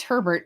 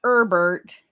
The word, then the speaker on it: Herbert: Yeah, it's Herbert, not Herbert. It's herb tar, not herb tar.